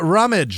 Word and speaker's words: Rummage: Krista Rummage, Rumage, Jamie Rosa, Amanda with no last name. Amanda C. Also, you got to roll your R. Rumage.